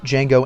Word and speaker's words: Django: candy when he meets Django at the bar he asks Jango his name and how to spell it D Jango spells it out and tells him the D is silent to which Nero responds